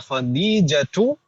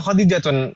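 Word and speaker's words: خديجة: Nomor 1 di sana ada khadijatu atau khadijatun bacanya Ibu? Khadijatu. Kenapa nggak boleh tanwin? Karena Mu'annas. Al-alam al-mu'annas. Ahsantunna. Jadi al-alam al-mu'annas, nama mu'annas tidak boleh tanwin.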